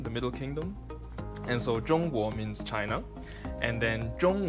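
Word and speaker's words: 中国: or China in Mandarin you say John war and the war it goes up like that so John war and war means land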